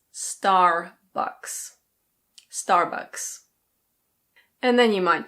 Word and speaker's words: Starbucks: In British English this is pronounced Starbucks. Starbucks. In American English the R is pronounced, so it's Starbucks.